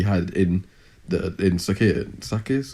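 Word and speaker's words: Sakhir: in the in sakia sakis is how you say it yeah yeah yeah like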